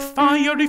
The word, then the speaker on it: fiery: that just notice please how mendelson has set the word fiery with three syllables fiery fiery fiery just say that with me ready and fiery fiery fiery fiery thank you so whenever you sing that word make sure you're articulating those three syllables please okay so that